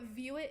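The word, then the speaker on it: VUIT: Luke actually texted me to give me the heads up about View It because I completely missed that news.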